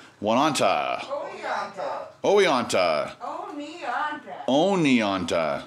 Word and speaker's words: Oneonta: This is the last moments of being in Wananta. Wananta. Oneonta. Oneonta. Oneonta. Yeah. Oni. Like pony.